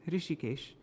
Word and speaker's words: Hrishikesh: The presiding lord of the transcendental senses, Hrishikesh, it's a long I in Hrishikesh, Shri Bhagavan, can be served only by transcendental senses, a process referred to as bhakti.